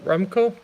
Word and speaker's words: Remco: Remco? Remco, okay. Usually I'm not good at pronouncing names just through type.